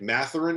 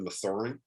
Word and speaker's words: Mathurin: him for that one it's benedict matherin instead of mathurin uh we got that